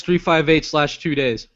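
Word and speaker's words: 358/2 Days: How do you say that? Kingdom Hearts 3582 days. Okay. So, it's a slash two. Yeah, slash two.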